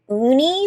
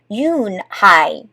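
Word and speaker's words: Unhei: "Uni?" the girl asked, scrunching up her face. Ooh, hey," some kids chanted. No, Yoon-hai corrected. "It's spelled U-N-H-E-I. It's pronounced Yoon-hai."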